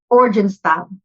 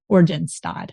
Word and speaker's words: Oranjestad: Pronounce that again for me. Oranjestad. Oranjestad.